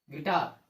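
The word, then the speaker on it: guitar: यू का उच्चारण नहीं करेंगे। देखिए आप, जी के बाद यू, जी के बाद यू, जी के बाद यू, तो जी क्या होगा, यू क्या होगा आपका, साइलेंट लेटर होगा। ये यू देख रहे हैं ना, यू साइलेंट लेटर आपका होगा। इसका उच्चारण नहीं करते हैं।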